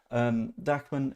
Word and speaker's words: Dahmen: Again, this is for the Scum match on Saturday, rather than like Dachman, who is, I think it's spelled Dahmen. Instead, it's just pronounced in a very German manner. Dachman is fair enough.